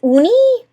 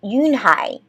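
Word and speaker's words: Unhei: Your name is Uni? He asked her with his eyes open wide. Yunhai looked quickly at Mr. Kim, then turned to Joey. She nodded slowly. Yes, it's pronounced Yunhai.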